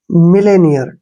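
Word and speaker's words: millionaire: पर ई हो जाएगा और जो ओ का उच्चारण है यहां पर हम य के रूप में पढ़ते हैं एन को न पढ़ेंगे ऐसे और ए आई का उच्चारण ए के रूप में करते हैं और आर का उच्चारण र पढ़ेंगे ठीक है ऐसे ये हो गया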